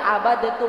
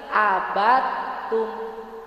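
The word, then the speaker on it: عَبَدْتُمْ: Ibu baca bukan abadatum, bukan gitu, tapi abatum.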